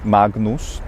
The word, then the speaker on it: Magnus: you're doing classical pronunciation it's okay to do a gn as written magnus you can even release